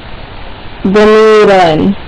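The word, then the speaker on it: ضمير: So the Arabic word for pronoun is damirun. Do you guys remember how to spell it?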